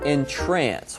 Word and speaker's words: entrance: enter through but here it's used as a verb and it's pronounced a little differently in trance what does that mean good pronunciation ship-to in trance someone means to kind